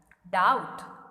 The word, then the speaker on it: doubt: Doubt, B is silent.